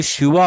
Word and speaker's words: শিব: বরং ওয়া হয়, কারণ এটা অন্তস্থ ব, এটা কিন্তু বর্গীয় ব না। এটি হচ্ছে মেইন ফ্যাক্ট। এই কারণে বললাম না, ওই যে উচ্চারণ সঠিক না হলে বানানে চেঞ্জ হয়ে যায়। কেউ যদি শিব বলতো তাহলে কিন্তু আমরা